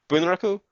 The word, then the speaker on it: Bunraku: which is from 2011, Bunraku, and I am going to be mispronouncing it a little bit just because if I gave it the proper Japanese pronunciation, which I think is more of Bunraku, there'd be a lot